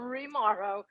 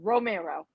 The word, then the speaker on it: Romero: It's not Romero or Rimaro. It's Romero.